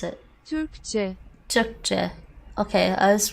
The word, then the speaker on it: Türkçe: How do I pronounce it? Türkçe.